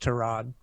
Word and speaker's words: Tyrod: them screaming houston's starting tyrod by the way it's actually pronounced turad i don't know if